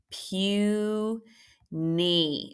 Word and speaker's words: puny: here wow all right this one is actually Pew knee if someone's puny they're very very tiny okay Pew is that a long vowel sure is that's an open syllable and so is knee very good puny open open this y happens to sound like a long e because it's in a multi-syllabic word okay and you should